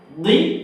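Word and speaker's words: ضِ: ওকে, দদ জের দুই, এই যে জিহ্বার পাশ দিয়ে আমরা বলতেছি মোটা করে দুই।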